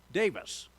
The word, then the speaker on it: Davies: He was from Wales, and in Welsh, you pronounce what looks like Davies to English speakers as Davis.